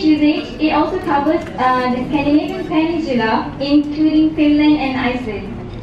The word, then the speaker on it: Scandinavian: Please don't pronounce this as Scandinavian, because I've heard quite a lot of people pronounce it as Scandinavian. Not Scandinavian, it's Scandinavian.